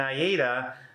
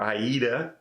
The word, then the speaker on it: AIDA: be with Carnival and Aida or Aida depending on how you pronounce it it's going to